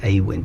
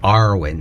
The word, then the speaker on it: Awen: thing called Awen, and some people pronounce it different ways. You know, sometimes it's pronounced Awen, but very rarely. I think it's more Arwen, so it's a bit more piratical.